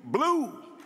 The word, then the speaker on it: BLUU: It is pronounced B-L-U-U, blue. And as those of us in the movement of the 60s say, from bucking back to blue.